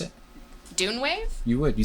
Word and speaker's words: DUNEWAVE: Or how would you pronounce it? DUNEWAVE?